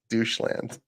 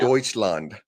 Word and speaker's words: Deutschland: want to go, I want to learn about doucheland. Still to this day, that's how I pronounce Deutschland when I read it. They asked what well, how would you sound that out? And I was like doucheland, and my teacher's like, no, don't say that.